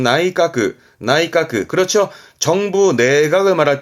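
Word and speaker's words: 内科: 발음은 나이까, 나이까.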